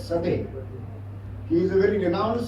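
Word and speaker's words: Coedès: The author is a French author, so the spelling is C-O-D-E-C, but they pronounce it as Sade.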